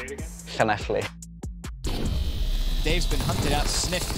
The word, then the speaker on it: Llanelli: How do you spell it? It's Llanelli. And say it again. Llanelli.